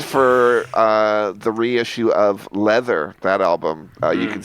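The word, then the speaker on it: Läther: But it's pronounced leather because that was what they were that's what they were they were into leather then.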